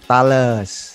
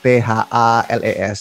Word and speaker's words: Thales: Sekarang aku kerja di company yang namanya Thales, Thales gitu. Kenapa bacanya nggak Thales? Karena itu bahasa Prancis, France gitu, company France.